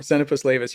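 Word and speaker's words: Xenopus laevis: Why zenopus leis? How do you pronounce it? The frog. Zenapus leis.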